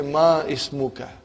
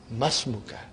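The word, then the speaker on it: ما اسمك: It will be incorrect to say Ma Ismuka. You should say Masmuka.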